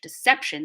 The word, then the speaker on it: deception: of shun deception in in english deception stress is on sep this is a rule